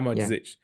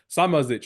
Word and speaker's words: Samardžić: Yeah, the D and the Z at the end is crazy. Yeah. Samardžić.